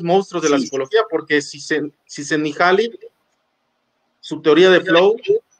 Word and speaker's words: Csikszentmihalyi: muchas letras y todo, porque es de origen húngaro, y él decía eso, o sea, sí es cierto, eso me ha pasado, y mi nombre se pronuncia así, Mihai Csikszentmihalyi, pero si se les complica mucho me pueden llamar Miki.